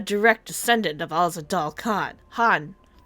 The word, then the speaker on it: Khan: Han. I keep forgetting the K is silent.